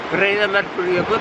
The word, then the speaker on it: Breiðamerkurjökull: Breiðamerkurjökull.